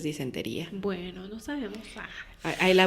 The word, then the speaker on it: disentería: Disenteria, ¿no? Porque no tiene acento en la I. Disenteria. Sí tiene. Tiene acento en la I. Según yo. Sí. Ah, sí tiene. Entonces es disentería.